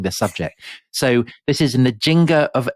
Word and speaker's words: Nzinga: So this is Nzinga of Ndongo. Yes. Have I pronounced that right?